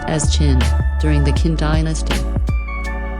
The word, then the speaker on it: Qin: The most famous wall was built between 226 and 200 BC by the first emperor of China, Qin Shi Huang, Qin pronounced as Qin, during the Qin dynasty.